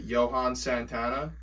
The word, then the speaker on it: Johan Santana: read uh I want to make sure I'm pronouncing this right Johan Santana yeah correct throws first no hitter in Mets history 2008.